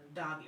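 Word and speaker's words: Doge: And I'm like, Doggy or Doji? Because I don't know how the shit's pronounced. So I finally heard it on what's the name, and now I know that it's pronounced Doggy. Or some people pronounce it Doggy.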